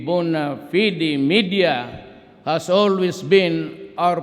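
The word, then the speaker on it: bona fide: Bona media Bon media sometimes they pronounce it bonafed but whatever the thing is the bua fidi media has always been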